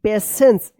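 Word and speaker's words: patience: पेशेंस देखिए यहां पे पी ए टी आई ई एन सी ई पेशेंस टी आई का यहां पे ये पेशेंस से उच्चारण हो रहा है ना श पेशेंस and kindness make अ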